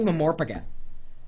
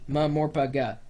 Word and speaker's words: MMORPG: It's just easier to say MMORPG. Seriously. MMORPG, MMORPG, four syllables, MMORPG.